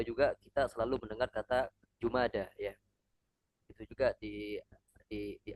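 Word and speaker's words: جمادى: Jadi jumada alula ya bukan jumadi tapi jumada alula.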